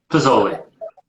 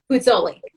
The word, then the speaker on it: Puzzuoli: I feel like when I say it, I'm like saying the U, and I don't know if I should. Puzzuoli. Puzzuoli.